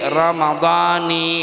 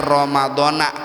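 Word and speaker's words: رَمَضَانِ: Tapi Bapak Ibu rekomendasi dari para ulama khususnya mazhab Syafi'i bacanya itu jangan ramadana kalau bisa bacanya adalah Ramadani. Bacanya Ramadani aja. Sebagaimana yang dikatakan oleh pengarang kitab Fathul Muin yaitu As Syekh Zainuddin Almalibari. Beliau mengatakan bacanya dengan kasrah jangan pakai fathah.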